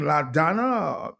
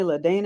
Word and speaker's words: LaDonna: Is that the name, LaDonna? Yes, you pronounced it correctly. Americans want to call me LaDana, and I'm like, what is that?